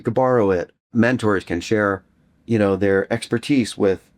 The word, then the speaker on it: Shār: So with that accent over the A, you know, it's a it's a long a.